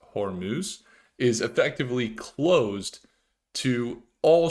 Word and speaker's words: Hormuz: The Strait of Hormuz, it's pronounced Hormuz, is effectively closed to all shipping.